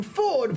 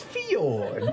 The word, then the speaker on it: Fjord: And you mispronounced your name Ford when we all know it's Fjord.